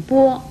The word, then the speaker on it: 番: 番还念波，国语注音是波窝波，一声波。